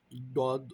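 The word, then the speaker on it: ضُ: দুইটার উচ্চারণের জায়গা আলাদা দাল জিহ্বার আগা থেকে আসে আর ডদ জিহ্বার গোড়া থেকে আসছে আমাদেরকে কিন্তু এটা ডু পড়তে হবে দু পড়লে হবে না ঠিক আছে তাইলে এটা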